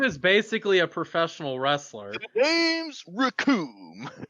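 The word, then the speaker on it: Recoome: basically a professional wrestler raccoon it rhymes with doom and then captain ginyu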